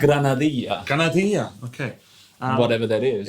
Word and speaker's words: granadilla: How would you pronounce that? Grenadilla, or if it's Grenadilla. Spanish, granadilla.